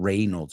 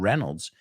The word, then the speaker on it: Reynolds: Bullock and Ryan Reynolds it's not Reynolds it's Ryan Reynolds and they were friends